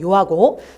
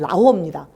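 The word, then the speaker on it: 遼河: 요즘에 모든 발음을 그 나라 발음으로 쓰기 때문에 우리가 한자로 얘기하면 요하고 중국 발음으로 얘기하면 라호입니다.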